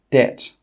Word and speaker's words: debt: It's also normally not pronounced before the letter T. For example, debt.